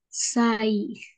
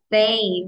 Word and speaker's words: say: Y no se pronuncia sai. Recordemos, la pronunciación de la A no es como en el español. Sí. Say, very good.